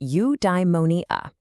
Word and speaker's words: eudaimonia: It's pronounced you-die-mo-nee-ah.